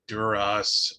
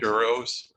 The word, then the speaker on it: Duros: I have always gone with a long O, but I don't think I've ever heard it officially pronounced within Star Wars. So Duros.